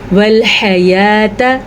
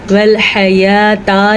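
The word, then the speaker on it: الحياة: خلق الموت والحیات لیبلوکم ایکم احسن عملا۔ موتا نہیں پڑھنا اس کو، موت، والحیات، والحیاتا نہیں پڑھنا، بڑی زبر ہے۔ لیبلوکم، با کے اوپر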